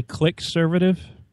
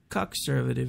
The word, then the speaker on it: cuckservative: Did you say click-servative? cuckservative. It's spelled C-U-C-K, and then the rest is servative, like conservative, but they've respelled it.